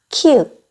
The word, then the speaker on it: 키읔: 키읔, 키읔, 키읔. 키읔은 영어의 크라는 소리를 내요.